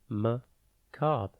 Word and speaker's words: macabre: maab it is pronounced maab and spelled m a c a b r e think Mac ab and then re before we get into